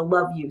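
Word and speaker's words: Luview: there are four siblings the love you siblings and their name is spelled l-u-v-i-e-w but the town is called love you Maine um so they totally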